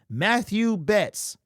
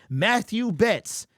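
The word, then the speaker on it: Mathieu Betts: week's game because we didn't hear his name Matthew Betts you might hear mat two other places but it's Matthew that's how you pronounce his name Matthew Betts stock up sacked a quarterback remember I said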